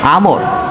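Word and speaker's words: عمرو: থাকে তাহলে সেটার উচ্চারণ, আইন মিম র এরপর যদি ওয়াও না থাকে তাহলে তার উচ্চারণ হবে উমর, আর যদি ওয়াও থাকে তাহলে তার উচ্চারণ হবে আমর।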